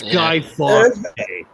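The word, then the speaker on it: Guy Fawkes: talking about well it's guy fox fox not not not the very bad news channel not mispronouncing [ __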